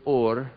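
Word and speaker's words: עור: different letter Allah fresh and they sound identical or and or they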